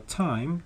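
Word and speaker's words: thyme: homophones are words with different meanings which are pronounced in the same way but are spelled differently here the homophones are time t h y m e which is a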